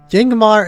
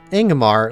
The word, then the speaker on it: Yangamar: Yangamar is pronounced Ingamar, leading with a vowel sound.